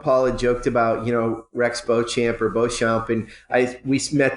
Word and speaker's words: Beauchamp: We talked in the beginning, and Paul had joked about Rex Beauchamp or Beauchamp, and you met that guy at